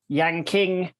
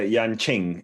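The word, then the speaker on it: Yanqing: cracking uh race at the yanking national alpine ski center yeah i think it's uh yan ching actually i wish it was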